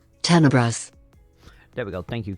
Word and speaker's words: Tenebrous: How is this actually pronounced? Tenebrous.